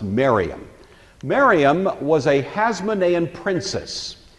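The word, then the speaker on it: Mariamne: spelled something like Mary Omni but it's usually pronounced Miriam Miriam was a Hasmonean princess by all accounts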